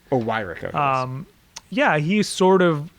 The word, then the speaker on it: Weyrich: person who you highlight in the book, Paul Weyrich, who seems to understand and grasp that, who,